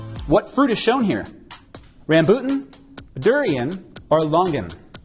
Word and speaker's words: rambutan: The correct answer, rambutan. Now there are several other pronunciations, including rambotan or ramboutan, or also, whoa, Black Betty, rambutan, Black Betty had some fruit, rambutan, whoa, Black Betty.